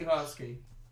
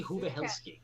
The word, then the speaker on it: Uhelsky: Casey Uhelsky. I gotta get her name. Uhelsky. I gotta get her website. I thought she said Casey Huvahelsky.